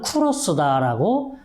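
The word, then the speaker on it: Κῦρος: 그리스 말로는 쿠로스다라고 이야기를 하고요.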